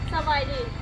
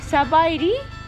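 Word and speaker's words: ສະບາຍດີ: Sabaidi. Sabaidi?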